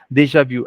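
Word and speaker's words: déjà vu: Deja yeah that's correct Deja VI so I think ARA it's V in the end and not Vu so Deja V Perfect all right uh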